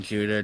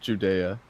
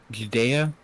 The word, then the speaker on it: Judea: This was the second sign Jesus performed after coming from Judah to Galilee. Yeah. And this is pronounced Judea, by the way. Just like Judea. Yeah, Judea.